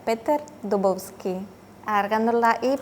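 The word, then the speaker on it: Dubovský: Se pronuncia Peter Dubovski. Agargando la i porque ahí lleva el acento en la y al final. Además no es Dubovski, es Dubovski.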